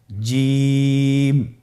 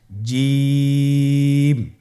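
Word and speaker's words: ج: আপনারা আমার সাথে বলুন জিম। হা খ জিম হরফটি বারিক হরফ এটা উচ্চারণ করতে হবে তিন আলিফ টেনে দেখুন আমি কিভাবে উচ্চারণ করছি আপনারা আমার সাথে করুন জিম মাশআাল্লাহ আবার বলুন জিম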